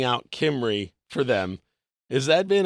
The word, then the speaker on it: Kimrey: It's always Kimmel, Kimbrey, Kimrell, Kermie, and I'm like, I'll just spell it out for you.